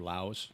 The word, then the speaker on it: Laos: I've never been to Lao or Laos. Either way you want to pronounce it. I always heard it was Laos. The country is Laos. And then if you talk about the people, it's Lao.